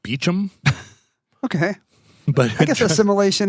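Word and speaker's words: Beauchamp: I mean, we would look at his name and pronounce it Bon. Uh he pronounced it Beichchum.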